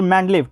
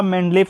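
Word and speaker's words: Менделеев: ठीक है, तो आधुनिक आवर्त सारणी का जनक दोस्तों आपको सबसे पहले बता दें कि रूसी रसायन शास्त्री मेंडलेव, ठीक है, सही उच्चारण आपका मेंडलेव है, कि सन 1869 में आवर्त सारणी का एक नियम प्रस्तुत किया था।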